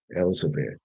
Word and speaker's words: Elzevir: All right, so I mispronounced it earlier, Elzevir.